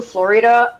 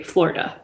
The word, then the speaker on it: Florida: the proper pronunciation well where i'm from we just say florida okay there's two syllables that's it you don't you don't